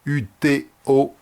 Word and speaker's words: UTO: mais le groupe français qu'on peut prononcer également ut o uto si vous préférez avec souvent parfois sur